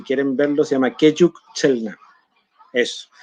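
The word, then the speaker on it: Selk'nam: Ahí la Lore me estaba tirando la orejita y me decía que se pronuncia Chelknam.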